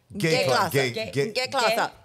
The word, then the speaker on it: G-Klasse: But they almost say it like gay. Gay-Klasse.